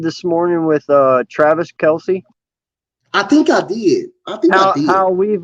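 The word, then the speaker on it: Kelce: to say nothing but yeah it's actually travis kels travis kells that's what is happening now i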